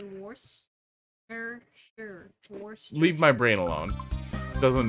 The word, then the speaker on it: Worcestershire: Worcestershire. Yeah, so you ignore a lot of it. There's a lot of extra letters in there for fun. You can just say Worcestershire.